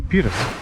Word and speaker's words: Buttes: I mean, you may pronounce it any way you want, but they say it's Twin Buttes.